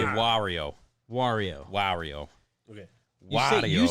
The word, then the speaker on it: Wario: You pronounce it instead of pronouncing it Wario, like M for like Mario, the M replaced on Mario with a W, so you say Wario.